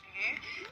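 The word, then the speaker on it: 鱼: Le mot poisson en mandarin se prononce lu, ce qui sonne exactement comme le même mot qui signifie abondance ou surplus.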